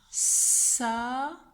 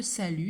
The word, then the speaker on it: salut: À la fin de salut, il y a une lettre qu'on n'entend pas. C'est un T. C'est une lettre muette.